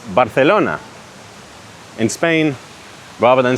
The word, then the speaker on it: Barcelona: Likewise, words, or letters, should I say, like C and Z are pronounced like th. So, think. It's not Barcelona, it's Barcelona.